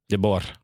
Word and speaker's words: De Boer: So you roll the R.